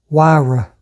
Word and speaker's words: Huayra: A lot of people pronounce it all kind of different ways, but it is Pagani Huayra.